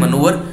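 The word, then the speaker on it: manoeuvre: सो उसको बोलते हैं मनोवर। स्पेलिंग देख लें, एम ए एन ओ ई यू वी आर ई, नॉट वी ई आर, वी आर ई।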